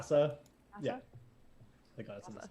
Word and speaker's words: Thassa: How do I pronounce it? Did I do that right? Thassa?